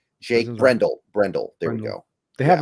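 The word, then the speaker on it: Brendel: did I say his name right Jake Brendle Brendle there we go they have a berford too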